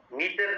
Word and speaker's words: mater: हम कहते हैं पाया मेटर कहते हैं। मीटर नहीं है, मेटर है, MATER। MATTER भी नहीं है, MATER है।